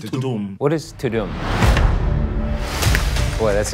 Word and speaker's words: Tudum: How do you even pronounce that? I thought it was Tudum. I think it's Tudum.